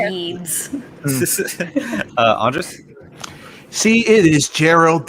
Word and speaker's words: Yeats: I can remember, but I feel like it's something like William, something P, and then something that sounds like Yeats.